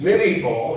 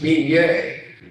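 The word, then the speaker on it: Minié: and what they call, what Americans mispronounce as mini ball. It was Minier, who was a captain, a French ordnance officer, who developed a conic-shaped bullet that had skirts on it.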